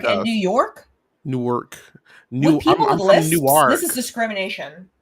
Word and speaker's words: Newark: Newark n-e-w-a-r-k oh I'm I was always saying Newark which sounds like New York Newark Delaware I don't